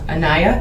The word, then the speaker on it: Aniya: And how long after you started dating her in about June of last year did you start having involvement where Aniya, is that how you pronounce Yes, the ma'am.